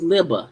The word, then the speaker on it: Libba: Oh, it's Libba, not Libby. It's Libba, Libba.